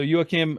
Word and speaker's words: Joachim: band and also uh Joachim Rudolph is that how you say his name I'm sorry if I butchered that yeah you are Kim yes yes so yokim Rudolph also mixed and mastered